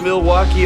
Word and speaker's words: Milwaukee: Do you come to Milwaukee often? actually is pronounced milwauke for the good land. I think one of the most interesting aspects of Milwaukee is the fact that it's the only major